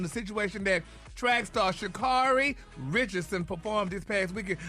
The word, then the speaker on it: Sha'Carri: Her name is Sha'Carri, not Sha'Carri.